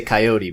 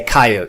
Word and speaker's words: coyote: So somebody over there has now I'll pronounce it I guess correctly for the West, because out here on the East we say coyote, but you guys say coyote, so I'll stick to coyote for the purposes of this interview.